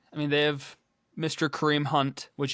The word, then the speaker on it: Kareem Hunt: Kareem Hunt, which you have to be careful when you say his name to not flip the the K and the H.